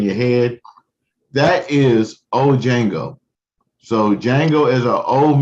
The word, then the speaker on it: Django: y'all don't understand that the d is silent so let me say dojango but it's django so um and if